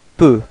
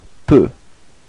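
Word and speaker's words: peux: Second person to to P. So you can see that it's exactly the same way of writing it and exactly the same of pronouncing it. You don't pronounce the final X. So it's P.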